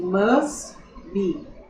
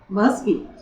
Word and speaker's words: must: Esse T ele não é pronunciado. Então, quando eu falo must be, é como se eu estivesse dizendo direto assim, must be. tá? Esse Tzinho aqui a gente não fala.